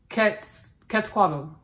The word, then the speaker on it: Quetzalcoatl: Y'all, I want to pronounce this right because he wanted me to pronounce it in a specific way. Quetzalcoatl.